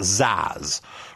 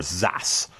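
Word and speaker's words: XaaS: Now, in keeping with trendy talk, sometimes this is pronounced ZAS or ZAS, but it's the idea of being able to virtualize or servicify anything.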